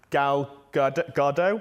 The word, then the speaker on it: Gal Gadot: And Gal Gadot, I think is the pronunciation, more recently again has